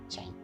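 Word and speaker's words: chyme: हम चाइम, ठीक है, नॉट काइम, इट is pronounced as चाइम।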